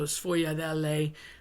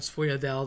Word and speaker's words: sfogliatelle: So sfogliatelle shows up. People call them sfogliatelle. They cut off the vowel. That's like a really common mistake.